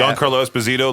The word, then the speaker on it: Giancarlo Esposito: Giancarlo Esposito, he's lovable in real life, but in Breaking Bad and Far Cry 6, a whole bunch of roles.